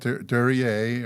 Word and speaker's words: Duryea: All right, so we got Duryea, or is that the correct pronunciation?